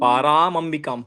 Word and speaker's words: परामाम्बिकाम्: Ikkada chinna correction. Dhyayet Paramambika. Okay. ध्यायेत् पर अम्बिकाम्. Paramambikam. Paramambikam. परामम्बिकाम्.